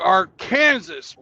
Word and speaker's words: Arkansas: Welcome to Arkansas, motherfuckers.